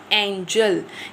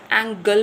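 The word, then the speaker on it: Engel: एंजल। कैसे करेंगे? एंजेल नहीं पढ़ेंगे। एंगल पढ़ेंगे। एंगेल एंगेल एंगेल।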